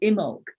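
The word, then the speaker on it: Imbolc: tomorrow's holiday jane well the traditional name that people call it is imog but maybe it needs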